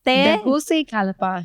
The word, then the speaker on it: Tegucigalpa: First of all, how do you pronounce how do you pronounce the capital? Tegucigalpa? Yes, Tegucigalpa.